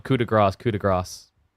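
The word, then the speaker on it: coup de grâce: Because if you say coup de grace, gras means fat. So you'd be saying like final fat or something like that.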